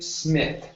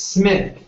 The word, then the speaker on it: Smith: you're pronouncing a t you're saying SMI okay this is a th at the end like the Theta like graas okay so it's Smith Smith yeah just like that like f okay one more time Smith